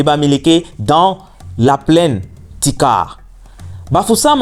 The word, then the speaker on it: Bafoussam: Bafoussam en langue locale se prononce Foussap, signifiant le trésor de la tranchée.